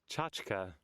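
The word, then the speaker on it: tchotchke: How do you pronounce that? Hold on. Chachka. Chachika.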